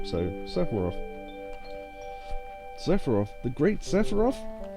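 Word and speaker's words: Sephiroth: Now, there's a debate on how you should say his name. I think it's Sepharof, and I'm going to say it like that. So, Sepharov.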